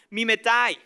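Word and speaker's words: μιμηταί: Resulta que esta palabra imitar en el griego se pronuncia como mimetai.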